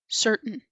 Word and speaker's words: certain: As you can see, we do not pronounce that T so strongly that comes before the N. That's the glutal T.